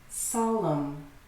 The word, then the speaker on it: solemn: 3 syllables. Government. Solemn.